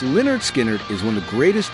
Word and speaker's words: Lynyrd Skynyrd: Pronounced Leonard Skinnard is one of the greatest journeys in rock history.